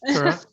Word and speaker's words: Turra: No, it's actually just like it sounds, Turra.